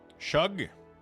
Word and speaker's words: Suge: Suge. Not a lot of groups on for world boss on my server. Oh, I forgot about world boss actually. Shug like sugar.